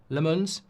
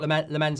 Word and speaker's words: Lammens: His name is pronounced Lemons. Great. Thank you for that. I thought Lemens had a good grade great great game though.